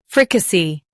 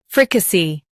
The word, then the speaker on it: fricassee: Fricassee. Now read the syllables shown on the screen naturally. Fri. K. See. Fricassee. Emphasize free and keep k and c smooth.